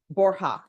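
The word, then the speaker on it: Borja: you Mr VOR yes am I pronouncing your last name correctly Bor borha okay I I never know what to do with the JS sometime uh did you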